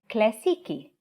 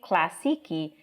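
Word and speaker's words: كلاسيكي: versus el for example the word classic in arabic is clasiki now if you say classiqui with a non-arabic l it will sound very weird to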